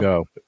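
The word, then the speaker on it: geaux: Well, actually, there's a Cajun spelling of the word go. Yeah? G-E-A-U-X. That's how they say it down here.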